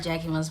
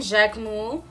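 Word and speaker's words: Jacquemus: say about it okay I know it's not Jackie Mouse but anyway he was wearing Jack moo and I hate how I sound when I say it like that damn anyway you guys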